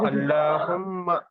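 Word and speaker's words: اللّٰهُمَّ: अल्लाहुम्मा मीम को गुन्ना के साथ पढ़ेंगे। कैसा पढ़ेंगे? अल्लाहुम्मा अल्लाहुम्मा अल्लाहुम्मा अल्लाहुम्मा। अल्लाहुम्मा ला को मोटा करेंगे सर।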